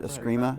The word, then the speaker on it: Eskrima: about, I'm not familiar with the martial art Eskrima. Is that pronounced That's correctly?